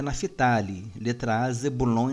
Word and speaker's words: Naftali: israel e somente corrigindo a pronúncia correta é naftaly de trás zebulom e